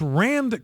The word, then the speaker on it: RAND: Now, there's a RAND Corporation, R-A-N-D, like Rand Paul, completely different, but spelled the same, pronounced the same.